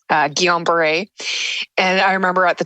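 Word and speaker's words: Guillain-Barré: very hard to pronounce so that's how it's pronounced uh Guillain-Barre and I remember at the time not knowing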